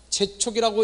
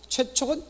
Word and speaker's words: 최촉: 재촉이라고 읽으면 안 됩니다. 최촉은 재촉과 같은 말로서 최촉, 도급 읽기 조심해야 합니다.